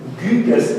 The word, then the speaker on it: Gyges: But Plato already brings that famous example of Gyges, as I would like to pronounce him in Old Greek.